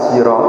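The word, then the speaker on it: صراط: dalam ilmu qiraatah Ini sirat ini ada yang baca sirat, ada yang baca zirat, ada yang baca zirat.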